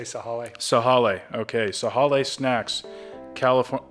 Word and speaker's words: Sahale: Do you think you pronounce the E, or is it Sahale? I think you say Sahale.